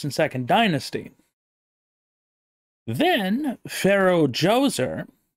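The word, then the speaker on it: Djoser: second Dynasty then Pharaoh joser oddly spelled with a d j o s e r in modern tongue decided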